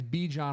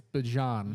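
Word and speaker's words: Bijan: He said everyone's been pronouncing. He said he's not mad at it, but you know, he gets be John a lot, but it's Bejon.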